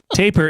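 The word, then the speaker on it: tapir: Abootsky did add it's pronounced the same as taper but has nothing to do with either the barber's verb taper or with tape.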